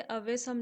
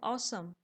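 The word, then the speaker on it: awesome: मौसम इसमें हमें दिखेगी इसकी स्पेलिंग जैसे अवेसम लिखा है पर इसका प्रनंसीएशन होता है ऑसम ऑसम ओके और सब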